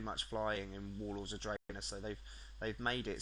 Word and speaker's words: Draenor: Draenor Draenor that's pretty cool thing warlords of Draenor sorry that's how you pronounce it basically not that I really care